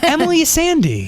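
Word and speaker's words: Emeli Sandé: wonderful The Talented the ABS you're you're stunning Emily Sandy hi hello did he pronounce that right cuz I know people mess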